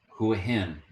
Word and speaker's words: Hua Hin: make this video okay do you hear that who him all right let's try another one Beach okay do you hear the pronunciation now you're gonna get to learn how